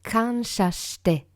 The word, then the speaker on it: kansha shite: Un autre petit point de prononciation en japonais, lorsque vous voyez SH, cela se prononce sh en français et non s. Par exemple, dans les préceptes du Reiki, le 3e précepte, c'est kansha shite, ressentir la gratitude. Et le SH se prononce bien sh, comme dans chat, par exemple.